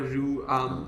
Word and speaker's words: Rui: It's so her actual name is Rui, but they used to call her Rue because her family had Winnie the Pooh names.